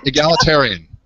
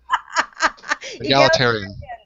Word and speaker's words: egalitarian: for this remember the word I could not pronounce they broke it up for me yeah e e tier n said egalitarian that's what they're trying to say egalitarian egalitarian is that's hysterical hysterical I loved it